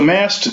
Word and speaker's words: Maast: well great well tell us about the company Mast I assume I'm pronouncing that correctly you got it right correct yeah tell us what you do so Mast stands for money as a service plus and